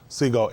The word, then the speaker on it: Segol: Segol, S-E-G-O-L, Segol. That's how you pronounce it, Segol, Segol, Segol.